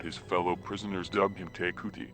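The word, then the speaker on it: Te Kooti: fellow prisoners dubbed him takuti pronounced cordy tragedy followed his escape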